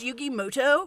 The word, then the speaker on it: Muto: Wait a minute, is that Yugi Muto? Actually, his name is pronounced Yugimoto. We'll see about that.